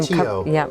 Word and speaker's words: Macchio: I know that I had seen here that you, is Ralph, how do we pronounce Ralph's last name? Macchio.